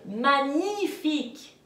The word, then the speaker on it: magnifique: Alors attention, A-G-N-E, ce n'est pas agne, c'est magnifique.